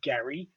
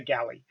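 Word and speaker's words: Gally: with with the japanese language that there's no distinction between l's and rs so it could actually be gary it's a bit it's a bit hard to tell but most people say galley um basically they went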